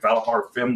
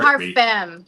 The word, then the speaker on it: Vallajar Femme: Looks like Vallajar Fem Oh yeah, Correct. our Vallajar Femme. So pronunciation.